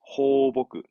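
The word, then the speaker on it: 放牧: 호보크. 호보크. 그렇죠. 방송하잖아요. 그렇지.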